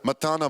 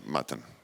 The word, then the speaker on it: Matan: Matan.